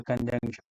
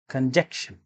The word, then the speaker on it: conjunction: the preposition comes the conjunction many of my students pronounce this word as conjecture very funny this word is pronounced as conjunction what is a conjunction